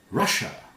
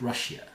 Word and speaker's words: Russia: Russia. Not Russia. Russia. Here's Asia. This is Russia.